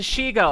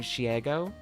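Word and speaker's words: Shego: At least you pronounced Shigo properly. I know, but can I admit something? I think that when Amelie is very insistent about being Shiego, I find that super adorable and endearing, and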